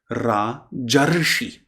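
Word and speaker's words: राजर्षि: But remember, Maha Rishi, Maharshi, Raja Rishi, Rajarshi.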